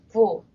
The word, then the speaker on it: Phool: and also I 1111 message Sawa's full is pronounced full but it's not like f LOL spelling you